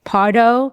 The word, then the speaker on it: Pardo: Okay, let me correct me if I say your last name wrong here. Partardo, you got it.